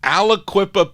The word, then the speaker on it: Aliquippa: spelling here aloo that's how you say it aliquippa pennsylvania and it's their only release it's a very rare 45.